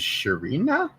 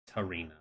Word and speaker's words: Tarina: This is Sharina? Tarina. Tarina.